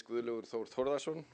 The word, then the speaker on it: Gudlaugur Thor Thordarson: assure you that this is not the worst pronounce evasion of my name I've heard but my name is guru Luthor Thordarson and I will check out later on today